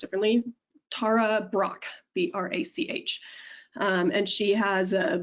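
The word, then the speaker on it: Brach: a woman named tara same as me but pronounced differently tara brock b-r-a-c-h and she has a beautiful self-compassion meditation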